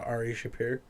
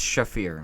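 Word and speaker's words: Shaffir: I ever run into ar shapir ar shapir wrote thisa I was saying his name wrong the whole time it's shafir shafir I don't know the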